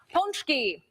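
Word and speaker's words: pączki: are talking about this delicacy and it is pronounced ponki help me with this again all right I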